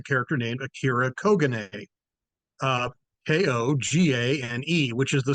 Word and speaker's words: Kogane: So, throughout this episode, you hear a reference to Kogane, and it's not Colgate, the toothpaste. It's not Rogaine, the hair product. It's Kogane.